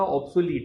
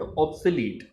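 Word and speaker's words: obsolete: सो जो चीज़ अब ट्रेंड में नहीं होती, दैट इज कॉल्ड ऑब्सोलीट। इसकी प्रोनाउंसिएशन होती है ऑब्सोलीट। लोग इसको ऑब्सोलेट बोलते हैं, वो ऑब्सोलेट नहीं, उसकी सही ऑब्सोलीट होती है।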